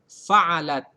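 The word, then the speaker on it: فعلت: Kalau di sini sekilas ya ada tambahan ta berharokat sukun. Dibacanya fa'alat.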